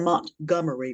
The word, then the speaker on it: Montgomery: we drove up to Montgomery. It's spelled Montgomery, but if you live there, it's Montgomery.